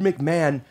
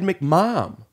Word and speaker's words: McMahon: look what Ricky made you can't say Edie Ed McMahon Ed McMahon ah because man and mama have the wrong amount of syllables its Ed McMahon could you excuse us